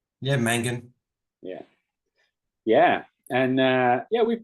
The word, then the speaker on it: Mangan: Yeah, Mangan.